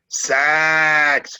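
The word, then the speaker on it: Saacks: sax but i guess he pronounces it sax because it's s-a-a-c-k-s and he did a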